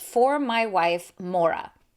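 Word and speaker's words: Morag: says for my wife Mora I think that's how you pronounce Mora it's m o r a g so it turns out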